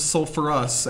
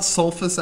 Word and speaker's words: sulfurous: i sulite sulfite becomes sulfurous acid it's not sulfus acid we put the herb back in there from sulfur sulfurous sulfurous sulfurous well I've